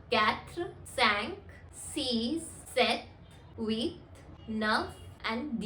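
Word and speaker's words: neuf: are just starting विद यू एंड वी are pronounce it एज वीथ next is number nine which is enough enough number 10 is these these you कैन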